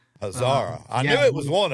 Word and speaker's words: Hazara: Hazara.